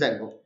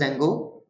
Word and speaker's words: Django: install space dzeno or pip space install space Zango exactly in the terms of pronunciation this is Zango D is somewhat you can say Sir this